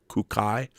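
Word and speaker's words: Kūkai: Buddhist Saint kodashi or kunkai you pronounce it kukai was gay yes a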